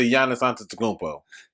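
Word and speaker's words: Giannis Antetokounmpo: you just now get into yana santa tacombo that's how you say his name he is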